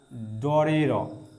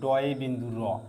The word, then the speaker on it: ড়: এটাকে আমরা ডর বলবো না। এটাকে বলব ড বিন্দুর র। ঠিক আছে? সাউন্ডটা র হবে। ওকে? কিন্তু বলতে গেলে আমরা যখন চিহ্নিত করব তখন বলব যে ড এ বিন্দু র কখনোই আমরা ডরে র বলবো না।